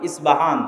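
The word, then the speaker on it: اصفهان: আমরা প উচ্চারণ করি ইস্পাহান, আরবিতে এটা উচ্চারণ হয় না। আরবিতে হয় আল আসবাহানি, বা উচ্চারণ হয় ইসবাহান বা আসবাহানি।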